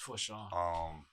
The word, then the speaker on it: Fortune: Shout out to Ed, Edward Fortune, however you pronounce his last name. It's Forshawn.